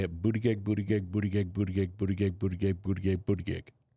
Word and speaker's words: Buttigieg: It's Buttigieg, but I like saying Buttigieg, and I know that's wrong. Do it. We all say it, Buttigieg, Buttigieg, Buttigieg, Buttigieg, Buttigieg, Buttigieg, Buttigieg, Buttigieg.